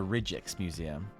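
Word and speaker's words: Rijksmuseum: there you go the The Rejects Museum that's the uh that's the official Dutch uh pronunciation of it okay someone was curious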